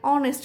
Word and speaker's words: honest: like he is an honest man here honest starts with H but pronounced as O so we use an